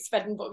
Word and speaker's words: Swedenborg: of swedenborg's i i i have to pronounce it svedenborg i think he's been